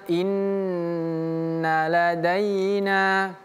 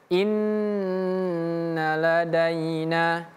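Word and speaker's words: إِنَّ لَدَيْنَا: Nah, setelah fathah kalau bertemu dengan ya daina daina inna inna ladaina seperti itu. Nunnya tidak perlu dipanjangkan yang ini. Inna tidak perlu dipanjangkan. Jangan inna ladai tapi inna ladaina.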